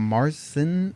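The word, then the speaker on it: Märzen: Yeah, it's like I pronounce it like a Marzen, Marzen, but they have like the weird dots. Yeah. If I remember correctly, it's a MAR and like TZN, but Just like look at it.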